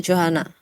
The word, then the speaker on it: Johana: say your name correctly is it Johanna or is it pronounced differently uh yeah it's Johanna okay excellent well